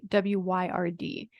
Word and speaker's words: wyrd: And as I said before in other recordings, in European mythology, the term weird was really spelled like W-Y-R-D, and it is pronounced Wyrd.